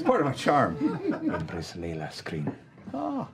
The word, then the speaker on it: Leylas Krynn: Empress Layla Screen. Oh. Layla's cream.